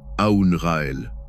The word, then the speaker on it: Aoun-Ra-El: Aoun-Ra-El. Prononcé Aoun-Ra et El. En laissant vibrer le Aoun dans la poitrine, le Ra dans le plexus solaire et le El au sommet du crâne.